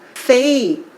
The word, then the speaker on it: buffet: buffet T는 발음 안 되고요. buffet인데 약간 미국식 발음에서는 약간 어처럼 buffet에 가깝게 발음돼요.